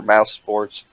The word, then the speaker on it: Mousesports: He is actually going to be playing mid for Mouse Esports or Mouse Sports, Moose Esports, whatever you want to call it.